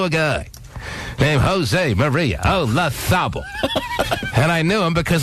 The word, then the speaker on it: Olazabal: But I knew a guy named Jose Maria Olazabal.